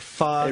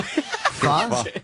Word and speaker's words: pho: Pho? I love your face. What's it called? Pho. Like I think PHO is. PHO. Pho. Oh, they don't pronounce it pho. No, it's like Vietnamese. They say pho.